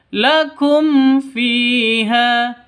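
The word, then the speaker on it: لكم فيها: yang ini jelas terang tidak boleh dengung tidak boleh panjang lakum fiha itu salah yang betul lakum fiha begitu ya umakum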